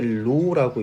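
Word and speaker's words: ρ: 식을 쓰면은 로 G V 라는 걸로 써지긴 하는데 여기서 하나하나 요렇게 생긴 거 읽을 때 로라고 읽어요. 그리스어 문자인데 로인데 요게 그 밀도를 의미하게 됩니다.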